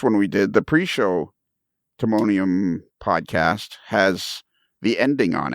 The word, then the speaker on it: Timonium: Timonium. Timonium.